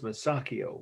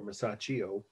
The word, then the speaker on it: Masaccio: t-r-i-n-i-t-y the artist's name is masakio or masaccio as the italians who pronounce it uh i'll spell his last name m a s a c c i o masaccio 1425.